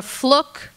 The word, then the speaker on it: Fluke: Just because it seems to be a source of consternation, it's Sandra Fluck. It rhymes with look.